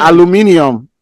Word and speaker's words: aluminium: guys say what you guys say alum Al aluminium aluminium that's the African way that's the other